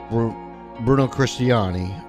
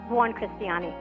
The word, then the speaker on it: Buoncristiani: All right, I've got Buoncristiani, a marketing executive. Did I pronounce it right? Buoncristiani. Buoncristiani.